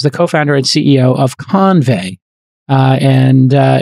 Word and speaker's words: Convai: co-founder and CEO of convey uh and uh it's spelled Co NV AI if you're looking for it but it's convey as in convey something uh the CEO of